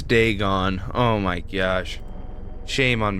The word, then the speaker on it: Dagon: Oh, I've been saying it wrong this whole time. I've been saying Dagen. It's Deegon.